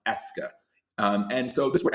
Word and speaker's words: est-ce que: I know it looks very robust but it is simply pronounced "est-ce que".